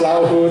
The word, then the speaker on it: Laohu: So my name is Laohu. It's pronounced Laohu. It means tiger in Chinese.